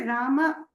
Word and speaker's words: Rama: Whereas we have to say Rama, Shama correctly. And in south, they'll say Raman, Shaman, Ramanaka, like that. But in Maharashtra, I've seen that is beautifully pronounced. It is neither too hraswa nor too dirgha.